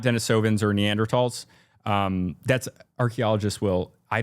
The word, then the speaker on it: Neanderthal: So they're not Dennisovvens or Neanderls.